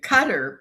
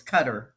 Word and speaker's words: Qatar: But the problem is we're going to Qatar before we go back we're flying to Qatar and then we're coming back to Cairo.